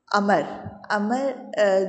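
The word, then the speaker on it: عمرو: अमर जो है वो या तो हम उर्दू में उमरू कहते हैं, लेकिन अरबी में से अमर बोला जाता है। जब वो वाव लगा देते हैं तो वाव को साइलेंट कर देते हैं और जो है आइन पे ज़बर आता है, ठीक है, अमर।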